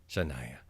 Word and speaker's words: Shania: Shania.